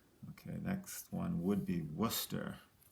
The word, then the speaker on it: Worcester: next one would be worcester worcester now this is a tricky people have trouble pronouncing this but it's w-o-r-c-e-s t-e-r worcester okay um let's travel